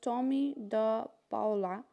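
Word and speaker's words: Tomie dePaola: This lesson is written by Thomas Anthony Tommy de Paula, pronounced Tommy de Paula, is an American writer and illustrator.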